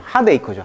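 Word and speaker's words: heartache: 그래서 어떤 상심, 핫에이크죠. 핫에이크. 핫에이크죠. 핫에이크. K 발음이죠.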